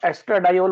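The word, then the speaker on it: estradiol: तो इसमें लिखा हुआ है डाई, दो लोग, तो एस्ट्रा डाइऑल बोलते हैं इसको।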